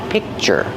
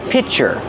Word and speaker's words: picture: So this is a picture and this is a pitcher. Close, but not exactly the same pronunciation. Picture, pitcher. Picture, pitcher.